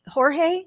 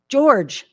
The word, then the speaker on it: Jorge: And we also have Phoebe Jorge. Am I pronouncing that correctly, Phoebe? No? George. Oh, okay. Thank you. I was going all like Spanish.